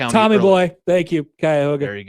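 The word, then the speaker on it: Cuyahoga: Metrop Parks land and I'm not going to pronounce the county. Kyoga. Kyhoga County. Tommy boy. Thank you. Kyoga.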